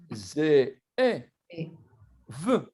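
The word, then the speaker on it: זאב: ça en tout cas, on prononce Zé avec un accent aigu et là avec un accent grave pour pouvoir entendre les 2 E.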